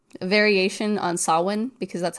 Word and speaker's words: Samhain: it's a variation on Samhain because that's how Samhain is spelled is s a m h e i n I believe. Oh. So that's Samhain, but it's Gaelic or Celtic and it is.